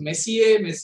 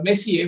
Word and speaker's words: Messier: So Messier was a French astronomer, if I have to pronounce it like that.